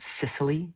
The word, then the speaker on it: Cecily: Some things he mentioned were that Sicily is the poshest way to pronounce Cecily.